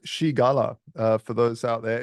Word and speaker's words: Scigala: to this interview uh his name is ska he is the co-founder of the standard uh welcome thank you very much for having me yeah it's it's it's pronounced Shala uh for those out there it's no one